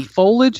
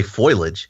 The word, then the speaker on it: foliage: foliage is a word I think it's foliage I think it word yeah it's how you properly spell it fol I a GE yeah some people call some people say foilage which is which is like nucular yeah this doesn't make